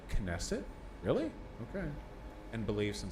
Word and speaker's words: Knesset: an individual's personal thoughts um pronounce the k and nesset knesset really okay and beliefs